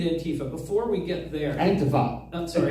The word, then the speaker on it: Antifa: Before we get there, Antifa. Sorry, Antifa. That's yes. how you pronounce it.